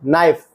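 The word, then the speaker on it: knife: ओ यू आर आवर घंटा थ Thomas के साइलेंट नॉक खटखटाना के एन आई एफ ई नाइफ चाकू के एन ओ टी नॉट गांठ एल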